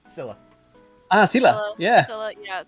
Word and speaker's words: Scylla: You know, this whole kind of encounter kind of reminds me of, how do I pronounce her name? Scala? Scylla.